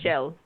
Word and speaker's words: Kjell: Shell. What? The crab's name, Shell. Oh, yeah, Kjell. Kjell. Jim. Yeah, K. like with KJ, with very snobby pronunciation Shell.